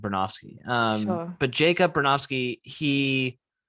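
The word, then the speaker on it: Bronowski: I used to pronounce it Bernowski because that's how it's spelled, but I think it's pronounced Bernofsky.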